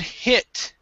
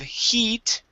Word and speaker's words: hit: right let's go to the word hit instead of heat this is when when